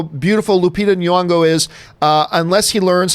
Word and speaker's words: Nyong'o: He goes, think of it as saying knee, like your knee, like Knee, Nyong'o.